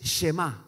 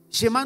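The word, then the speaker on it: Shema: una palabra en hebreo que es Chema para los que anotan Chema así como un Porteño s h e m acento en la al final Chema no se puede traducir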